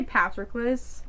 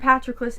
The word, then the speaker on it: Patroclus: The author herself says 2 different pronunciations. I'm gonna say Patroclus.